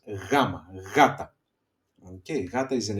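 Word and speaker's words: γάμμα: If you see here in the pronunciation gamma soft g like in yes gamma gata okay gata is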